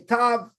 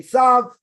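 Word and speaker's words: ת: Sephardic pronunciation would be tav. Ashkenazi pronunciation would be sav.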